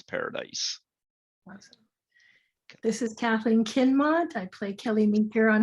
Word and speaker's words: Kinmont: Kinmont. You got to say my name right. Oh, gee, I'm sorry. I got an L in there. I'm sorry. It's okay. Oh, Kinmont, sorry.